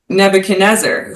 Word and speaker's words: Nebuchadnezzar: in this letter like some guy named nebuch Nebuchadnezzar who I didn't even know how to say